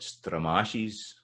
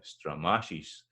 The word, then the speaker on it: stramashes: Then something like stramashes, that's the second one. So it's da-da-da, da-da-da, stramashes. Let's get that.